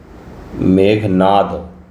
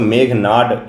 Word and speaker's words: मेघनाद: इनका हिंदी में नाम है मेघनाद देसाई। मेघनाद देसाई लेकिन इंग्लिश में मेघनाड इनका प्रोनाउंस किया जाता है।